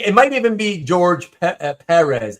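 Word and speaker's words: Pérez: Because he always meant for people to pronounce it properly. It's supposed to be Perez.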